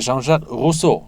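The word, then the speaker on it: Jean-Jacques Rousseau: 그랬을 때 우리가 옛날에 그 프랑스의 장작 루소 이렇게 이제 원어민 발음으로 멋있다. 근데 한 번만 더 해주세요. 장작 루소 우리는 보통 루소 장자크 루소 예.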